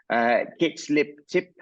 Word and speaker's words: Kiziltepe: must be getting, and remind me how to pronounce this, Kiziltepe mine in Turkey. That's it. Yes. Mine in Turkey into production. What are the significant milestones ahead of you for that mine? Yeah, so absolutely true. Kiziltepe was a huge milestone for the company because